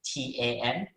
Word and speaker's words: Tan: lives a lot easier if i just spell my name t-a-n right that's a common name in malaysia and in asia in fact and that's exactly how it's pronounced so feel free to